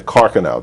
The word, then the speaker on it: Carcano: was very interesting is the bullet from the carcano that's how it's pronounced rifle that's a unique bullet and it